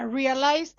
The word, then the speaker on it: realized: Sometimes the ed is pronounced and sometimes it is not. In the case of realized, talked, processed, it is not pronounced.